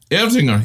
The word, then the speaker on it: Erdinger: I can't pronounce it. Erdinger? Erdinger, yeah.